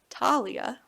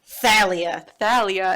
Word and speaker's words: Thalia: Thalia. Thalia is how I read it as a kid, but I guess that's how it's spelled. Thalia. Like she's really tall.